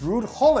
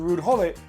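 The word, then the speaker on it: Ruud Gullit: We're not Dutch and we pronounce the G as gole. When he comes to England everybody's like oh look it's rude hole.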